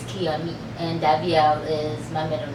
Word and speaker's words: Kiami: pronounce it correctly it's Kia me it's Kia and Amy put together and it's Kia me and davel is my